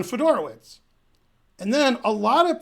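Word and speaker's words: Fedorowicz: in a similar note John Fodor oh it's okay he's John fedora wits and then a lot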